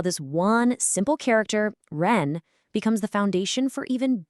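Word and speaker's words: 人: Let's move on and see how this one simple character, ren, becomes the foundation for even bigger ideas.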